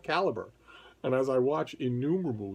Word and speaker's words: Calibre: there's an app that i have been pronouncing on this channel as calibre forever since i first learned about it i've been pronouncing it that way but actually it's called caliber and as i watch